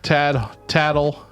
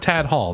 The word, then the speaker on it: Tattle: Tattle. That's how you pronounce his name. It's not Tad Hall. That's not his name. Tattle? It's pronounced Tattle.